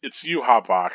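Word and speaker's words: Yhwach: It's Yuha Bach, I guess.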